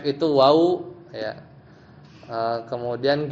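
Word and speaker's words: وَ: huruf-huruf jar, atau misalnya huruf wa ya bil fathah bacanya wa ya dengan fathah artinya dan.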